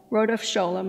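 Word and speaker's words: Rodef Scholem: is to be known by the name of rhodopsholum and this is spelled r-o-d-e-f-s-c-h-o-l-e-m and there's a whole talk to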